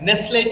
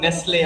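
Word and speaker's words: Nestlé: And you can see the pronunciation, you can hear the pronunciation. It is Nestle. It's not Nestle. It's Nestle.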